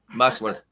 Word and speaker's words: Mustler: Like Hustler but with an M. Yeah. Mustler.